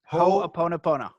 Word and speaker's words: Ho'oponopono: You know, I tell people just remember Ho, and then after you remember Ho, it's Oponopono. Ho'oponopono.